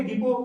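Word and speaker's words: depot: silent T देखो, ठीक है, यहाँ टी टी टी साइलेंट है, इसको क्या बोलेंगे बेले, क्या बोलेंगे इसको बेले, इसको क्या बोलेंगे डिपो, क्या बोलेंगे डिपो, क्या बोलेंगे विसल, क्या बोलेंगे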